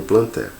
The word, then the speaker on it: Plantae: plantae ou metaphyta tá alguns alunos eles falam um reino plantae mas a pronúncia certa gente é reino plantae hum o reino plantel